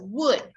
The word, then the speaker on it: would: the in these words that letter l is a silent letter would no medium doesn't correct